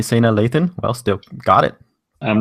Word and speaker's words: Sanaa Lathan: let's look at the let's look at the pronunciation okay all right let's see oh Sanaa Lathan oh Sana that's the thing uh when we're